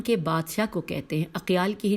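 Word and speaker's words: أقيال: کہ اقیال اباحلہ کے وہ سردار کے جس کی ہمیشہ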